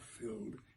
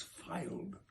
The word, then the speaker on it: filed: mispronounced that last word it's not filled it's filed my tongue tied Muse